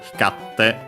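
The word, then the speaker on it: 光って: Hikarite, but then the i fell. Hikarte, difficult to pronounce, so it became simply double consonant te. Hikatte, te form required because then we had iru, so yeah, continuing action or state.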